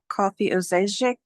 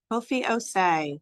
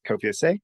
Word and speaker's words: Kofi Osei: Kofi Ozejic. Kofi Osei. Oh, I'm sorry. I know how to say it. Thank you. My name is Kofi Osei.